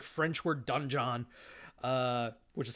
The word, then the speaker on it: donjon: Fun fact, dungeon is the actual like French word donjon, which is how it's spelled.